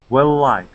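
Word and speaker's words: well-liked: making her well liked wellik okay yeah so making her well liked one word okay yep one word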